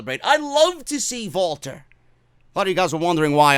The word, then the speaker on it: Walter: say vaulter instead of Walter because I want to sound I want to sound intelligent vaulter just sounds better even though that's the way it's pronounced over there because he's Austrian and that's the way